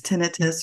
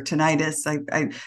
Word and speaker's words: tinnitus: I was having was tinnitus or tinnitus. I've heard it pronounced both ways.